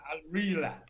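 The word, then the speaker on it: Al Rihla: How do you pronounce it? Yeah, Al-Rila.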